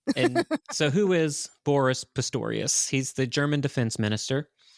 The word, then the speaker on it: Pistorius: came from Boris pastoris great name Pistorius yeah well I like to say pistus it Rhymes no I know no be polite Dave's listening his name you got it wrong yeah yes my Uncle